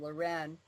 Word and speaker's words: Leuren: same name we do mine is the French pronunciation Lauren and his is the